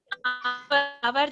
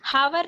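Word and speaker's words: hour: उस तरह आवर जब हम बोलते हैं तो वहां पर भी एच साइलेंट होता है, है ना। हावर नहीं बोलते, आवर बोलते हैं, तो वहां पर एच साइलेंट है।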